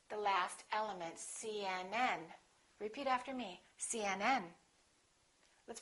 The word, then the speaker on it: CNN: The rule is we stress the last letter of an abbreviation.